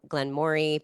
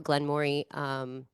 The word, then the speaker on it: Glenmorangie: to a Glenmorangie seminar in New York and learned how to say it correctly. That's the challenge. 'Cause I thought, yeah, Yeah, I didn't know it was Glenmorangie. I thought it was Glen Moray. It actually is Moray because it's French.